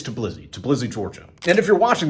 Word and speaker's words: Tbilisi: It's Tbilisi, Georgia.